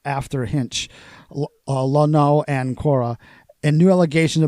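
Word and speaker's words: Luhnow: pitching signs, and it suspended Astros GM Jeff Lonau, is that how you pronounce his name?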